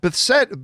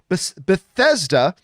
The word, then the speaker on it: Bethesda: just broke out that beset but i always mispronounce this bethesda uh creator of famous